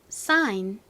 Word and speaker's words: sign: 씁니다 발음 한번 해볼까요 sign 한 번 더 싸인 좋습니다 또 한번 써볼게요 s ID 그 다음에 소리가 안 나는 쥐 니은 받침 앤 사인 다음 단어는 바로 디자인이었죠